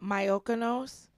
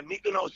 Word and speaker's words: Mykonos: Myokonos? Is that how you Mykonos.